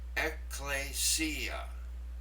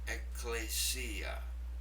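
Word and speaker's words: ἐκκλησία: Let me pronounce it. Ecclesia. Ecclesia.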